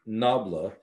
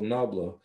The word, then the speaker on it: nabla: so this mathematical symbol the symbol itself is pronounced nabla a noble is a greek word or an